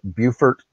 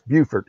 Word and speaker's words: Beaufort: That must be North Carolina, because that South Carolina is Beaufort with a T. Beaufort.